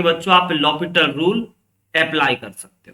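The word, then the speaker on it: L'Hôpital: ये actually French word है बच्चों, है ना। हम लोग इसको एल हॉस्पिटल आप पढ़ोगे प्रोनाउंसिएशन, बट ये आपका एक फ्रेंच वर्ड है जिसमें कि बहुत सारे वर्ड साइलेंट है ना, इसके लिए इसको लॉपिटल पढ़ा जाता है।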